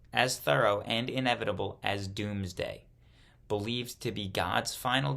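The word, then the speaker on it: Domesday: the result was the what word is this Doomsday Book pronounced doomsday d-o-o-m-s-d-a-y spelled d-o-m-e-s-d-a-y the result of this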